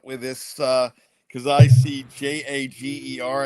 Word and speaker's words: Jager: A G E R I think of Jägermeister. Is it Jager Burton if you're J A G E R? Um that's probably where I'd lean towards in terms of pronunciation, but you know, he